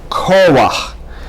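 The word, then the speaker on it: כֹּחַ: For example, koach, and you see the accent is on ko, that's why you have that line there, and not koach. Not koach, but rather koach, and not koha, and not koha, because whenever you have a het at the end of the word with a underneath, you say ach.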